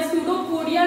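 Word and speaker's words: pseudopodia: इन्हें क्या कहते हैं, सूडोपोडिया। सूडोपोडिया की स्पेलिंग आप देखिएगा, पी से शुरू होता है, पी साइलेंट होता है, सूडोपोडिया।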